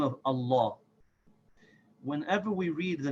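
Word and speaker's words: الله: Allah with affection and the mad in this is pronounced full meaning we say amor so we say Allah and his first love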